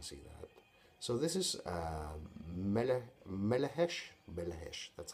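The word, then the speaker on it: Melechesh: So this is Melehesh, that's how it's pronounced. Melehesh, Sphinx, which was priced for the CD 12.5 euros.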